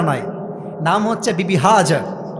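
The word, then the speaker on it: Hajar: একটা ভুল ধরায় দি ভালোবাসার সাথে হাজেরা নাই। নাম হচ্ছে বিবি হাজার। না আমি আপনার ভুল ধরাছি ভালোবাসার সাথে। এটা কোন অপমান নয়। আমরা বলি বিবি হাজ। না উচ্চারণটা হচ্ছে বিবি হাজার।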